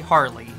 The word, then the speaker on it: Harle: Do you pronounce it Harl? I do. I know it's supposed to be Harley. It's Harl, though.